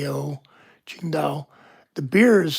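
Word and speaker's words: Tsingtao: It's the city of Chinga is spelled Qi N G D A Ching Dao. The beer is spelled T Si N G T A singo. It's pronounced Chinga.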